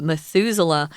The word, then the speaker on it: Methuselah: name for a tree Methuselah it's kind of weird but that's how you say it Methuselah and that tree there